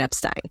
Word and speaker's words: Epstein: name Brian Epstein and the thing that caught my ear when I listened to it it's like that vowel sound so you can hear him very clearly say the i instead of the e but we're going to